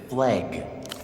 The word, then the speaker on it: FLEG: They actively pronounced it flagg.